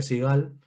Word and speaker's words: Sigal: llama Sigal, eh, Sigal, entiendo que se pronuncia Sigal, y conozco que han traducido el Zohar, pero una versión muy inferior.